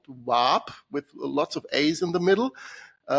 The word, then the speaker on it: WAAP: for me to pronounce, if I have to pronounce WAAP because it sounds like the WAF itself. And I found that a bit simple solution for that. I call it W-A-A-P so that everyone gets a clear idea of what I'm talking about.